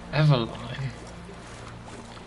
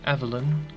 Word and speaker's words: Eveline: Eveline? That's how you want to pronounce the name? I mean, isn't it quite clearly Evelyn? Isn't that how you spell Evelyn? I mean, I'm pretty sure.